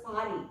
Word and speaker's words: Paris: The last S won't be pronounced and is pronounced as Paris.